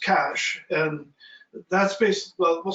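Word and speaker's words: cache: put a question mark that's spelled c-a-c-h-e then that's cash and that's basic well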